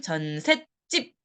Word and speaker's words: 전셋집: 해당이 되고요 발음을 해보니까 요렇게 발음이납니다 전셋집 또는 전셋집 요렇게 발음이나요 왼쪽 발음은 사이시옷을 표기하기 이전에 사람들의 발음